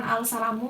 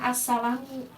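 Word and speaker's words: السَّلَامُ: Kalau si ini idgham syamsiah ini, assalamu silamnya tidak dibaca, bukan al-salamu melainkan assalamu.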